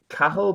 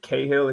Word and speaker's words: Cahill: Uh, my name is Cattle, but Cahill if you can't pronounce it.